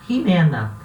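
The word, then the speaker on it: Ximena: Você vai falar Jimena. Esse X no início vai ter o som do rota, que é igual ao som do nosso R, né? Então vai se pronunciar Jimena.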